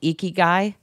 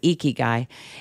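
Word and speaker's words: ikigai: I I subscribe to a Japanese philosophy called eeky guy that's spelled i k i g a i eeky guy and it's um about a purpose-- Driven Life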